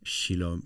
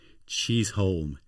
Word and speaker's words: Chisholm: Just before we started, uh, I called you Maggeli Shilom Shislom, but I was I was totally totally wrong and you corrected me and say my name is Maggeli cheese.